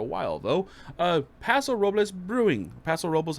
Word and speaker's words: Paso Robles: Paso Robles, how you want to pronounce it?